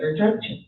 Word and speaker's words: Erdrich: It's Erdrich. I think that's how you say it.